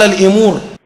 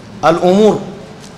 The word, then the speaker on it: الأمور: قال الإمور على كثير من الأمور، الصحيح شنو؟ الأمور.